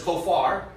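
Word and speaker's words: כופר: Here's kofar, which is pronounced like that, 3724.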